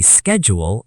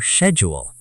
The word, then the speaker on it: schedule: The pronunciation can be schedule or schedule. Both are okay? Yes, it depends on the accent.